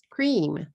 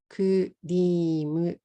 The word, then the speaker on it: cream: How many syllables in this word? Cream, cream, cream. 1 syllable, cream. In katakana, it will be kurimu, 3 syllables.